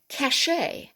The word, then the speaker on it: cachet: the parachute that's a french word parachute and cachet i should have actually put an acute over